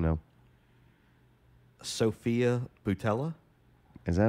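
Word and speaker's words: Sofia Boutella: Sophia Boutella? Is that how you say it? Like Nutella, but with a B? Boutella?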